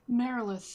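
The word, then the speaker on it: Marilith: Oh, Merilith demon. Merilith, yes, thank you.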